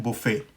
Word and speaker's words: buffet: ठीक है, और फ्रेंच में इसकी प्रोनाउंसिएशन है वो है बुफ़े।